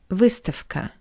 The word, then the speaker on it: выставка: And the second example is the word выставка, which means exhibition. The voiced consonant V stands before the voiceless consonant K. That's why we pronounce V as its voiceless analog F.